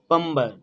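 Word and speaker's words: plumber: ঠিক তেমনি প্লাম্বার, দেখো MB রয়েছে, মানে বি এখানে সাইলেন্ট। পাম্বার, পাম্বার।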